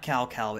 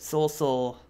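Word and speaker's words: Cao Cao: pronounce his name correctly it's not Cal Cal it's Seoul so I don't I guess I was reading it wrong but Sol Sol and Aziz hills battle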